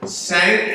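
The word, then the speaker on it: SANC: Coalition otherwise known as sank and somebody said to me earlier sank rhymes with thank and I think that's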